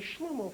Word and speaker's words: Shlomoh: spells it you know except there's a silent h at the end now now that song